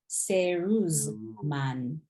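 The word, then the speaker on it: セールスマン: There's no L in Japanese, so the L is going to be replaced with an R. So instead of saying sale, we say seru. Seruzman.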